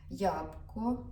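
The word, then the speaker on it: jabłko: ж клубніка так бросквіня ябко яблко Ну просто ябко л та ж не вимовляється л з такою паличкою ябко Я не знаю точно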